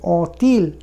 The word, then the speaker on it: ont-ils: ils ont বলেছিলাম, এখানে ওএনটি সামনে এলে অই উচ্চারণ হবে এবং টি এর সঙ্গে লিয়েজও হবে, ont-ils, ont-elles।